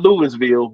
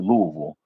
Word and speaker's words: Louisville: Not not Louisville, Louisville. That's how they pronounce it. Louisville.